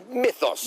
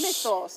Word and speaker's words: Mythos: Mythos. Mythos.